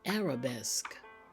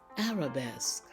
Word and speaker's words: arabesque: at these two words they both end in SQ q u e notice how the Q sounds in these words we have picturesque an Arabesque you see it's slightly different than the other sounds let's say these words together picturesque Arabesque and that is because these words have been borrowed from the French language now